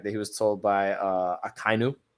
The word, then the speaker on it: Akainu: he was told by Akainu, right? That's how you say his name, which is the admiral that has the lava fruit, I guess is what it is, or the plume fruit.